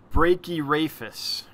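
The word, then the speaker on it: Brachyrhaphis: how to say this brachear APHIS break your APIs okay cool breaky rapist so the H is silent well that helps instead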